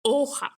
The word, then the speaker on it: hoja: And remember in Spanish, we don't pronounce the H, so we say hoja, which means page or leaf typically.